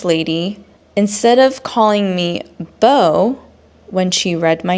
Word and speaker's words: Bo: Like, there's famous people actually with the first name Bo, like Bo Derek, the actress. She's famous. This lady should know who Bo Derek is. But she called me Boo. I guess the reasoning for why she pronounced my name as Boo is because the word T-O is two. So B-O is Boo, right?